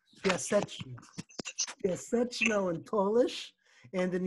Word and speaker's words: Piaseczno: This is how it's pronounced in Polish, because nobody who studies this person can pronounce his name. Piaseczno.